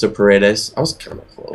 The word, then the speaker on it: Paredes: is, I'm going to rely on you for pronunciation again, Jimmy Paredes. I think it's Paredes. It's a Paredes.